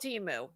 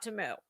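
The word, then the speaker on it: Temu: it is non-negotiable that it will be called Teemu not TAMU okay TAMU just sounds like something with cows but yes so when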